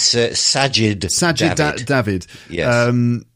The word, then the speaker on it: Sajid Javid: I feel like Savage I always get his name wrong it is Sajid Javid like him resigning feels